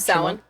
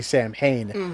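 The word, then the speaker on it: Samhain: Is that how you pronounce it? Sin. Sin. Yeah. Um because I for for all the unwashed masses we always say Sam Hayne which is how it's spelled but it's like s Yeah.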